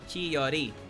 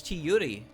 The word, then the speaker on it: Chiyuri: Chiyori. Oh, it's Chiyuri.